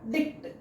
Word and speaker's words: dict: It is not letter D. It is a sound symbol of the sound duh. And this which looks like English letter I, it it gives the sound ih. Dih. And this uh it it sounds as kuh tuh.